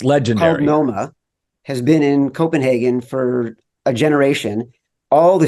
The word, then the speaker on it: Copenhagen: by DraftKings, is joining us from, I think, Copenhagen? It's pronounced Copenhagen.